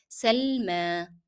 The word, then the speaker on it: سلمى: And here remember we are pronouncing yeah in Salma as alif because the preceding letter is carrying fatha. So you pronounced as if it is alif. Salma.